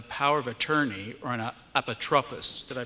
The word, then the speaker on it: Apotropis: say about a power of attorney or an Apotropis. Did I pronounce that correctly, Rabbi?